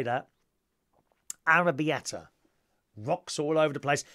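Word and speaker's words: arrabbiata: careful Tim's connectively arrabiata arrabiata is how you say arrabiata would it desire a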